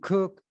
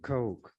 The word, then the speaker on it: Koch: who has that as a name Coke some cook others CCH but the CES pronounce it Coke this article was written or published October the